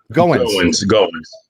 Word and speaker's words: Goines: Goines. Yep. I just remembered Goines. It's like Owens with a G.